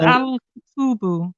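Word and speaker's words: الكتب: How could you tell it was al-kutubu? Because there's no haraka on it. No, because al-kitabu has an alif after the ta. Al-kitabu. Yeah. And al-kutubu, there is no alif.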